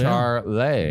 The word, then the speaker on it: Charleigh: And it's spelled Charleigh. Oh, so Charlie.